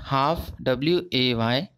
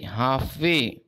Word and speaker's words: halfway: HALF, half. WAY, way, halfway. Okay, here L is silent.